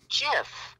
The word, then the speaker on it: GIF: How do you pronounce it, Neil? You're talking to me? Yeah. JIF, right?